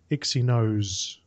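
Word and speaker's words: Exynos: RAM yep um the how do you say it exos exos 8 OCTA 8890 or I I pronounced it zos zos that's a silent e oh yeah exos exos exy nose that sounds better okay it doesn't really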